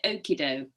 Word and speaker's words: Okido: Your work is frequently found in a magazine called, is it Okiddo? Well, you can call it what you know. You can pronounce it however you like, but I tend to call it Okido.